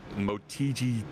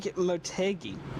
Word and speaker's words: Motegi: ready to go green here shortly uh at motiji twin ring twin wing how do you say it the correct win ring motegi motegi thank you it's a fascinating layout it